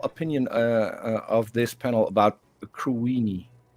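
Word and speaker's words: Cruithne: It was first called Crewithny, and then they figured out they mispronounced it. It's Crewini.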